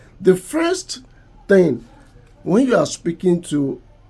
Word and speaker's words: thin: In phonetics, this sound is represent the sound such as when you ask a typical African to pronounce thin, they are going to pronounce it as tin.